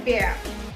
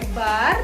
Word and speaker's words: Bär: Dibacanya adalah E. Contohnya der Bär. Der Bär. Jadi bukan der Bar dibacanya tapi der Bär. Good. Karena A umlaut dibaca huruf E, maka kata ini dibaca der Bär.